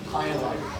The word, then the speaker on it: Hilo: So, some folks ask how do you pronounce it? That's how you pronounce it. Hilo.